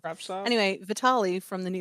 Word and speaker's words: Kravtsov: Kravtsov, I think. I don't know. I don't think it's a hard T, or I don't think you pronounce both. Kravtsov.